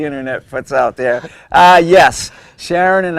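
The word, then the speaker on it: Charon: Sharon. Now, I never, usually they spell it S-H-A-R-O-N, Yes. but she spelled C-H-A-R-O-N.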